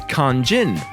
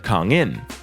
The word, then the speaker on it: Kang In: In his local area, people say his name as Kang Jin, which seems to come from how they read his English name Kang In Lee, as Kang Jin instead of Kang In.